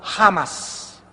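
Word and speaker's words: חמס: chamás con CH, chamas, se produce la CH en el hebreo como J, jamás, y significa violento.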